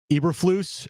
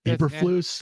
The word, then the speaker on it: Eberflus: The Bears are bringing back Eberflus as their. Is it even how it's pronounced, Brent? Eberflus. It's Eberflus. Is it Eberflus?